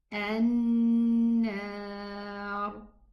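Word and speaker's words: النار: An-nar, nar. Okay, so it should be na. And the ra is the letter that has this tafkhim, ista'la.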